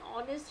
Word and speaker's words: honest: Yes, again, honest is a word we use very frequently. So need to understand that we do not spell the H over here, and hourly.